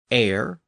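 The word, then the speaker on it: heir: a French lone word that includes words like honor honest our h o r air h e i r and the American pronunciation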